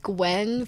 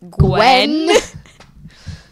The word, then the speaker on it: Gwen: be like, it's pronounced Gwen for your information. It was actually just another kid named Avery. It's pronounced Gwen. You'd be surprised how many people get that wrong.